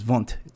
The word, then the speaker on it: Wundt: he was a german physiologist uh physiologist um his last name is vant w-u-n-d-t is how it's spelt he's a german physiologist philosopher and professor